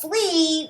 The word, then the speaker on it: flea: long e sound the flea was on the dog flea so this one is the ea combination that has a long e sound also this is the